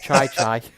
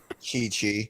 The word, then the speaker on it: Chi-Chi: starts calling his wife Chai Chai. Chi-Chi. Yeah, I know, but he wait.